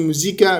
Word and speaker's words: موزيكا: مزيكا اصلا جايه من موزيكا بالمناسبه يعني حتى اقرب لنقط الايطالي هي جايه من موزيكا بالانجلش ميوزك بس هي بتقال موزيكا مش موزيك فهي اقرب للنطق الايطالي فهي ايطاليه مش بس